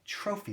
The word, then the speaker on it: trophy: Trophy. There's your F sound. Your F. Trophy. And that Y is sounding like a long E at the end.